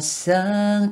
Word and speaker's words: song: A song to sing. A song to sing. 성을 송 하지 마시고 C자 거꾸로 발음이 O하고 O 사이 발음.